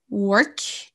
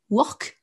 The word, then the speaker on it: work: Si vous prononcez mal, par contre, que vous ne dites pas « work » et que vous dites « work », comme vous prononcez le O comme un O français, work, ben là, on ne vous comprendra pas.